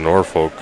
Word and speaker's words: Norfolk: He also says another one is Norfolk, Virginia. It's not pronounced like it typically should.